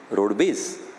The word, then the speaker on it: roadways: road base right because in Bihar when people speak instead of calling roadways Bihar roadways they pronounce it as road base his father was a